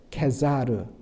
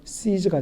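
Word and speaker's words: Caesar: 여러분, 가이사란 것은 라틴어로 케사르, 케사르는 바로 이것을 영어식 발음으로 하면 시저가 되는 것이죠.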